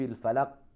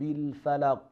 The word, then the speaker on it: الْفَلَقِ: So we have to say like this: قُلْ أَعُوذُ بِرَبِّ الْفَلَقِ. That is the echoing sound of the letter Qaf.